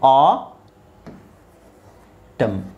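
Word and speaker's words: autumn: okay so ಇಲ್ಲಿ ನೋಡಿ ಸಾಮಾನ್ಯವಾಗಿ m ಜೊತೆಗೆ n ಒಟ್ಟಿಗೆ ಬಂದ್ರೆ m ಜೊತೆಗೆ n ಒಟ್ಟಿಗೆ ಬಂದಾಗ ಮಾತ್ರ ಅದು ಸೈಲೆಂಟ್ ಆಗುತ್ತೆ ಸೋ ಇಲ್ಲಿ ನೋಡಿ mn mn mn mn mn mn ಅದು ಕೊನೆಯಲ್ಲಿ ಕೊನೆಯಲ್ಲಿ ನಿಮಗೆ mn ಒಟ್ಟಿಗೆ ಬಂದಾಗ ಈ ನಾವು ಸಾಲ್ಮ್ n ಅನ್ನ ಸೈಲೆಂಟ್ ಮಾಡ್ತೀವಿ ಓಕೆ ಸೊ ಇದೇನಾಗುತ್ತೆ ಅವಾಗ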